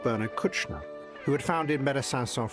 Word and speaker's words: Kouchner: Oh, people say it various ways. Bernard Kouchner. Kouchner is usually how that's pronounced. No relation to that Kushner, Jared Kushner.